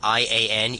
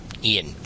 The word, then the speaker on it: Ian: Yeah, you you pronounced that I A N Ian. Ian.